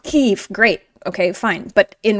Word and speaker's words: Kyiv: Now in English, it is more politically correct to call Kiev Kyiv. Kyiv, if you can hand, Kyiv is the Ukrainian pronunciation. Now all the news stations and everything are saying Kyiv, which is based on the original Ukrainian Kyiv.